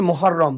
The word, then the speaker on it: মহররম: বলো জোরে বলো আচ্ছা উচ্চারণটা হবে মহররম ঠিক আছে তার জন্য